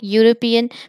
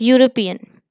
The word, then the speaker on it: European: Why I have take European? Because we pronounce as European. So it give the consonant sound U, European.